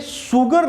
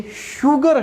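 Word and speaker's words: sugar: तो ये सुगर नहीं है बच्चे, है ना। बिहार में, यूपी में बोलते हैं सुगर। सुगर कितना लोगे भैया? है, ये सुगर नहीं है, ये क्या है? ये शुगर है, शुगर। तो यहां पे जो एस है ना, एस, इसने किसका साउंड दिया बच्चे? इसने श का साउंड दिया, है ना, स का, श शलगम वाला, ठीक है।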